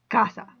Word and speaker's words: casa: you say casa not i'd be putting the stress on the sa which i'm not supposed to do i'm supposed to put it on the ca so that's why i say casa same thing goes with